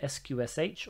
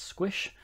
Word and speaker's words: sqsh: valid you can use the command sqsh or sometimes pronounce squish which is an interactive